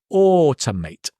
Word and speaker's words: automate: a or ow, it's or, as in more, more, it's or. And again, notice the two, it's not tomato, it's t. So it becomes automate.